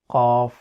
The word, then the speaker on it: ق: It is pronounced as Qaaf, and the sound is Aqo.